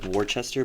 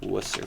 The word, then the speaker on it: Worcester: It's spelled like Warchester, but it's actually Worcester for some reason.